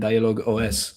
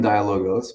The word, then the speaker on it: Dialogos: So yeah, what has worked for you guys and and dialogue OS or dialogos? How should I pronounce it? Yeah. Well, we're shifting we're shifting more. So we've always been dialogos, but we are shifting more to technological dialogos.